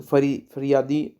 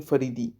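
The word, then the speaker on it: फ़राइज़ी: तो फरियादी नहीं फरीदी, फरीदी मूवमेंट के फाउंडर थे हाजी शारियतुल्ला दादू मियान।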